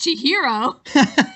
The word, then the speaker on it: Chihiro: say no what I will say is it's pronounced Chihiro Chihiro I was watching it with the subtitle